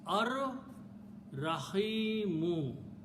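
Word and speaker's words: الرَّحِيمُ: When we pronounce, we don't pronounce lam, but ra twice, becomes ar Rahimu, the most merciful.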